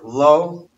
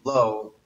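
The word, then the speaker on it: לו: I mentioned what I told the other night, the word lo, lamed vav, and lamed aleph. They're both pronounced the same, but there are a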